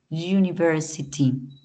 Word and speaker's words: university: hotel in English a University la palabra universidad no se pronuncia University se pronuncia univers es como si existiera una pequeña jotita invisible pero que tiene un sonido cierto antes de la u como una jotica y